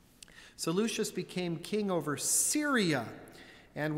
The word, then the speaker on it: Seleucus: I'm going to go with Seleucus because I believe the people who followed Seleucus were called Seleucids.